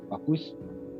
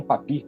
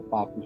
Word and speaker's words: Papus: gente conhece como Papus, e é assim que se pronuncia em português mesmo, em francês seria Papus, e não Papi, como algumas pessoas falam, não é essa a pronúncia, mas vamos tratar aqui